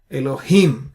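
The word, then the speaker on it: אֱלֹהִים: syllable has an accent ELO he has an accent therefore you stress on it you sayit bar Elohim so that's the stress on the last syllables in all these three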